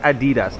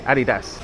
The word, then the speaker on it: Adidas: It's not Adidas, okay? It's Adidas.